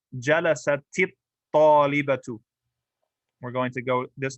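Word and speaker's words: جلست الطالبة: So we're going to double the ta and get there with a kasra.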